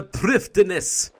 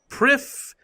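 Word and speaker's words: Prifddinas: It's actually like Prifdinas or something like that. Prifdinus, or something like that. It's a weird name. Apparently it has a slightly different pronunciation in Welsh or something.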